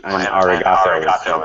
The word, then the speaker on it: arigato: Well, and arigato is basically the re. Arigato is the stress there.